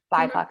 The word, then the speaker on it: BIPOC: Do you actually pronounce that word? Mm-hmm. BIPOC.